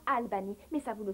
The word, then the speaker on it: Albany: Les gens là-bas prononcent ça Albany, pas Albany.